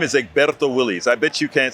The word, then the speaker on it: Egberto: Listen, my name is Egberto Willies.